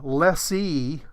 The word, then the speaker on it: lessee: The rhyme is, the lessee rhymes with me, and I'm the little guy. The lessor rhymes with landlord, and that's the big guy.